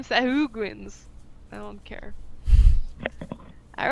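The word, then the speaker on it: sahuagin: Actually, the the pronunciation is sahuin, but I call them sahuguins.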